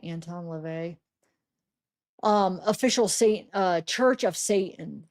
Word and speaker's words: LaVey: Anton Levy. Is that how you say it? And Anton Levy. LaVey, Anton LaVey.